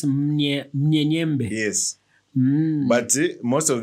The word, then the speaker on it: Mnyenyembe: Malawans who would say Nyenyembe. Without the M. No, without the M. Like, okay, it's spelled with an M. And actually some people have evolved. It's M-N, not M-U-N. Oh, so it's Munyenyembe.